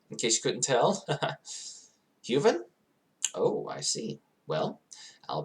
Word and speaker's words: Huven: Human and Huven are pronounced exactly alike, in fact, except for the V.